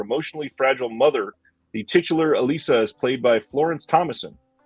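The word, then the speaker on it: Élisa: This one is from Altered Innocence, and it's pronounced, Elisa from 1995.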